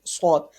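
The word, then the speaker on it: ص: Next, swat. Swat is pronounced is in always in thicker voice. Swat is pronounced in thicker voice, always in thicker voice.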